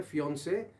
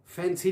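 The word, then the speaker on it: fiancé: फैंसी नहीं पढ़ना इसको आपने, ये सुनने में ये भी वर्ड्स आते हैं जो कि इंतहाई रॉन्गली प्रोनाउंस्ड वर्ड्स होते हैं, जिससे आपकी एंगेजमेंट जो है वो एट रिस्क भी हो सकती है फैंसी कहने से। The word is फियोंसे।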